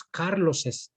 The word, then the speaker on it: Carlos's: Carlos's. So I use apostrophe S and I pronounce Carlos's.